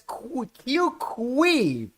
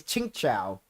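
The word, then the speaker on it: Qingque: pronounce her name because the last time I said this I referred to as qqu but then you then you corrected me that her real name pronounced is chingcha yes uh Ching chinga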